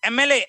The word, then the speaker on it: MLA: अब देखो MLA, M is a consonant but gives the sound of M, AM.